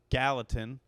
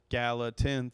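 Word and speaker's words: Gallatin: so we were out on Galatin Galatin three syllables G you guys following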